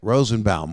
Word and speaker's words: Rosenbaum: was michael rosenbaum that's how you say it rosenbaum what's the big deal um there's a lot